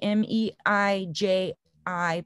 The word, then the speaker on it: Meiji: so it was 1889 that they and that was during the meiji m-e-i-j i pronounced meiji um restoration period where